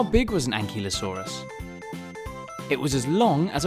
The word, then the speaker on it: Ankylosaurus: by velociraptor how do you say that again and ki lo saw wrists how big was an ankylosaurus it was as long